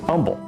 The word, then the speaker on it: Humble: a little bit odd the way he pronounces named H was silent so it pronounces humble many have described pleaseth